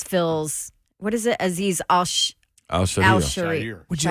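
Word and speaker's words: Al-Shaair: This is from him. This is how you pronounce his name. Aziz Al-Shire, number 51.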